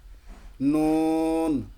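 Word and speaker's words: نون: নুন, নুন দেখেন জিহ্বার আগা এমনি চলে যাচ্ছে, নুন, নুন, নুন উচ্চারণ করার পর লাস্টে জিহ্বাটা আবার ফেরত যাবে ওখানে, নুন।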